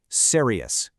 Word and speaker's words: serious: Serious is a huge one. Learners love to squeeze this into two syllables, but native speakers stretch it out to three. Serious. Slow it down a bit.